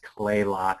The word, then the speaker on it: Kalaloch: It's actually pronounced Kalaloch. The first A is silent.